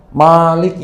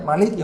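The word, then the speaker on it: مالك يوم الدين: Orang Indonesia baca Maliki yaumiddinya panjang. Betul, Pak. Orang Maroko bacanya Maliki yaumiddin. Pendek Maliknya. Malik pendek artinya raja.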